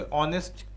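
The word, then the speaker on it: honest: ऑनेस्ट का उच्चारण आ से होता है।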